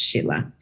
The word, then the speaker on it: Scilla: welcome my name is Sheila and it's spelled like skilla s-c-i-l-l-a but it's pronounced Sheila and I'm the CEO